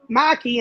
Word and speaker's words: Maki: Maki, and I'm good. Maki. Am I saying it wrong? Maki, Maki, like a mocking.